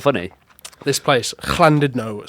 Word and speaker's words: Llandudno: When there's two L's in front of a word, you pronounce it with a C, so it's Llandudno.